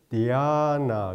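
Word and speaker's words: dhyāna: 그 다음에 범어로는 디아나 그래요.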